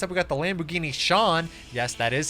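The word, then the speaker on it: Sián: Next up, we got the Lamborghini Shawn. Yes, that is how you pronounce it.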